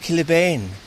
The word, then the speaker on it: Kilabin: It's called St Luke's now, but it was originally Kilabin, or pronounced Killibane.